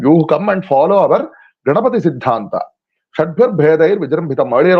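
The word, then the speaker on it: Gaṇapati: So Ganapati, in that original word, the syllable of na, the vowel after n, is a short syllable. So it is not a Ganapati, it is Ganapati.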